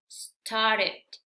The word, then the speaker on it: started: como en estos ejemplos, entonces al agregar ed, aquí sí vamos a pronunciar completo estas dos letras. Se va a pronunciar ed, ed, ed. Por ejemplo, aquí tenemos start, agregamos ed, sería started, started. Bueno, aquí en este caso la T se absorbe, ¿verdad? Eso ya es otra regla, pero el caso es que ed se pronuncia ed.